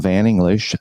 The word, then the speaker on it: Van English: my name is Van like the vehicle English like the language uh I have to say that often because when I just peel it off I'm van English I often get how